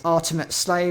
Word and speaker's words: Artemate Slay: The Furigana says it should be read as Artemate Slay, which seems to be a portmanteau, so it's a combination of ultimate, pronounced in Japanese, and Artemis, which is the Moon Goddess.